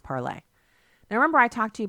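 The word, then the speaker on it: Parler: your tweets maybe you should head over to parlor parlez it's parlor comm but it's pronounced parlay remember I talked to you about that here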